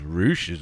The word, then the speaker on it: Rush: That's that dude is Roosh's brother in real life, brother, and maybe in kayfabe as well, dude. Yep, wow. They're brothers. So it's spelled Rush, but it's pronounced Roosh.